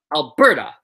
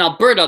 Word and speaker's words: Alberta: 3 syllables in both, but we say Calgary, but Alberta. So in Alberta, the second syllable is where the stress is. In Calgary, it's the first one.